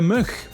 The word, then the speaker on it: mug: That's our Dutch word of the day, which in Dutch is de mug. De mug. With a soft G.